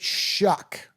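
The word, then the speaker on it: Shough: But but you pronounce it shuck.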